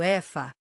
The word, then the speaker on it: Aoife: Outra história encantadora centrada nos espíritos travessos e brincalhões conhecidos como Aoife, pronunciado Efa, geralmente descreveu como pouco pessoas que habitam as florestas e os campos.